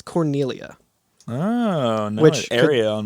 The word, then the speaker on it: Cornelia: in my head thinking Corneria, but it's Cornelia. On your game. On my game. Yeah. If you Also- skip the cutscene where you meet Corneria, it actually gives you a level 1 Corneria, and it's spelled Cornelia.